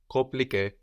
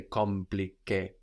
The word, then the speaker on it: compliqué: Like in confirmer or compare, compliqué. We don't say compliqué, no? The M is kind of swallowed into the vowel before compliqué, confirmer.